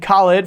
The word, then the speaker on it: Khaled: up dude well and it's pronounced Khalid right yeah okay okay